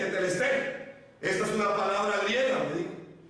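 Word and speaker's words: Τετέλεσται: Se escribe tetelestai, pero se lee tetelestai.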